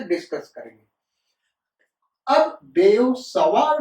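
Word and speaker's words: Biot–Savart: ऐसा generally school में बोला जाता है, लेकिन प्रोनाउंसिएशन इसका ये नहीं है बेटा। मैं फिर से कहता हूं, स्कूल में 99% टीचर और स्टूडेंट्स इसको बायोट सावर्ट्स लॉ कहते हैं, लेकिन इसका करेक्ट प्रोनाउंसिएशन है बेयो सवार लॉ।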